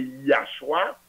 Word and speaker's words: Yahshua: Mais prononciation hein, c'est Yahshua. Pour quelle raison? À cause de alléluia qu'on dit.